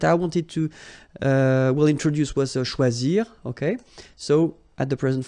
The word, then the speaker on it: choisi: Okay, same rule, you don't pronounce them. So phonetically, you will have choisi, choisi, choisi, choisi, choisi, choisi, choisi, and choisi.